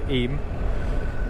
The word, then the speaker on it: Eyam: he rode through the village of iam pronounced eem and uh it gave